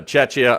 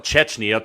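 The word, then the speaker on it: Czechia: Uh by the way, Chetchia, we didn't call it Chetchna to the guy who had time today to say we pronounced it wrong on YouTube. No, we said it right and even spelled it right on the captions. T went with Chetchia, not Chetchna.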